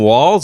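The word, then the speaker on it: Walz: no T in there there's not a t now I've heard of a silent letter I haven't heard of a a Le that's not in there that you pronounce right exactly so I'll say Tim Walls that's yeah I think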